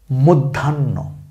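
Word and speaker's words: মধ্যাহ্ন: same মনে রাখতে হবে ন এর উচ্চারণ আগে হবে হ এর উচ্চারণ হালকা করে পরে হবে ঠিক আছে তাইলে আমরা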